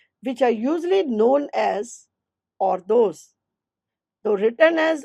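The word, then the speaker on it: hors d'oeuvres: This department prepares various items such as salads, starters which are usually known as or those. So written as or the over but pronounced as or those in French.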